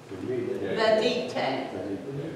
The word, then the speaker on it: venite: Venite. And if you look at the pronunciation guide, it says V-E-H-N-E-E-T-E-H.